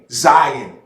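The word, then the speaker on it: Zayin: It's spelled Z-A-Y-I-N, Zion. But doesn't it sound like Zion?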